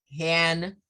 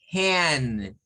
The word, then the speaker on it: hand: ¿Cuál es el sonido? Es I. Si yo digo han, solo estoy haciendo la A. Es como que solo estoy haciendo la mitad de esto. ¿Ve? Entonces, hand. No se nos olvide ese sonido que hay que bajar y después subir. Bien, pero ¿qué más tenemos por acá?